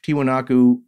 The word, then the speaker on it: Tiwanaku: national state of bolivia pronounced in spanish tiwanaku comes out as tiahuanaco or tiahuanaco so that is the spanish equivalent of tiwanaku so just as if